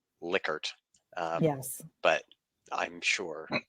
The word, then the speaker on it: Likert: time yes yeah um I do believe that the proper pronunciation is liquored um yes but I'm